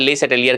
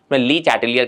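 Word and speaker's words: Le Chatelier: Constant होता है और लेस सेलियर का जो अपन ली चैटलियर की तरह प्रोनाउंस करते हैं।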